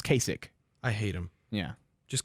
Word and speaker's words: Kasich: and then uh K is that how you say his name cich kich Kasich Kasich yeah no it's Kasich I hate him yeah